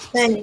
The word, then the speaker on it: Spanish: Now, people, please, when you pronounce Spanish, right, try not to aspirate the p, right? Because in this word, the aspiration of p is neutralized because of the presence of the s, right?